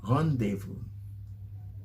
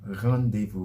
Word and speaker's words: rendezvous: in french khan deifu rendezvous rendezvous you actually pronounce the r with the back of your tongue pronouncing it the g and the r together khan devo rendezvous means um a meeting